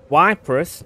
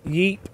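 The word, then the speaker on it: Ypres: fire said to me why press oh that's what I just called it before it's pronounced more like Yip for future reference Okay so I wasn't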